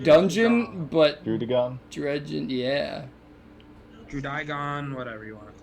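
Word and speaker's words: Druddigon: So the pronunciation is Drudigon.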